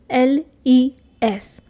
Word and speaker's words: les: Okay, so the last one is les. Again, s is silent.